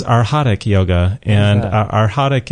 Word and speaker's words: arhatic: the name of the yoga you said it's arhatic yoga and our hadik it's uh it's a it's a tricky word but it's spelled a-r-h-a-t-i-c and our hot is a word